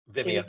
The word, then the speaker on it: Vimeo: Am I pronouncing that right? Vimeo, yeah.